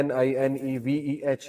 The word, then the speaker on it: Nineveh: تو عدس نے کہا کہ میں نینوا سے ہوں۔ نینوا اس کا تلفظ ہے NINEVEH۔ نینوا جو ہے یہ